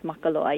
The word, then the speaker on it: makaloa: So can you explain what that, and I can't even pronounce it, makaloa? Yes, makaloa, yeah.